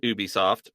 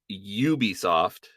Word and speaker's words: Ubisoft: just doing Ubisoft and I will pronounce it Ubisoft not Ubisoft because they say a Ubisoft original on them not an Ubisoft original and I hate that